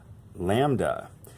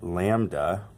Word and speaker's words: lambda: this one down here, lambda. So that is the Greek letter lambda. Wow, I cannot spell. L-A-M-B-D-A is sort of how we pronounce that, lambda.